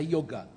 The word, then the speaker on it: yoga: As pessoas falam yoga, mas é yoga, a pronúncia certa.